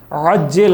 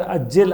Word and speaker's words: عجل: سنگین کر دیتی ہے۔ عجل عین کے ساتھ کہنا یعنی اے پروردگار تعجیل فرما، یعنی جلدی فرما ظہور کو، لیکن اگر اس کو عین کا تلفظ کرنے کے باوجود کوئی جان بوجھ کر عجل الف سے کہے تو اس کا معنی ہے کہ نعوذ باللہ حضرت کے ظہور میں تاخیر فرما۔ لہذا بعض مقامات پر